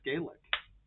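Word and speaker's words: Gaelic: Puffs sh says yep you said it right it's gelic and that what you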